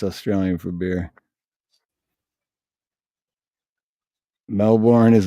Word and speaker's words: Melbourne: is Melbourne I'm like that's the way it's spelled how is it supposed to be pronounced well they say melbour and they just say it without saying melb oh okay melbour I